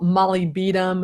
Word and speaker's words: molybdenum: an individual and a molybdenum is a mineral it's called Molly beat'em as another way to pronounce it or just MOU I like MOU it's a lot simpler but molybdenum is a